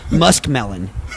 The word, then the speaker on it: muskmelon: It's muskmelon.